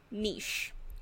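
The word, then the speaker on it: niche: I picked up a tome epitome because it rhymes with ho oh yeah like another one nish and I CH e when people say Mitch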